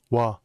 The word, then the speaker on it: 와: When 오 and 아 come together, they form the diphthong 와. Because if you try to pronounce O and A together, it just sounds naturally wa. So you have to combine the vowel of the stem and the vowel of the ending. That's why O plus A becomes wa in pronunciation.